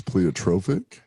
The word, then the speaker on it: pleiotropic: Pleiotropic, or is that the right?